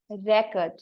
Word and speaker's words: record: you have to pronounce record r e is the first syllable c o r d is the second syllable and you have to give the stress on the first syllable so the right pronunciation